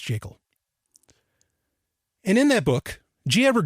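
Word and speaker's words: Jekyll: for a good reason it's the creature from jacel Island yes it's pronounced jacel and in that book gever Griffin clearly states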